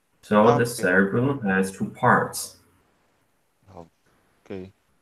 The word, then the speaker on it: cerebellum: cerebellum has two parts.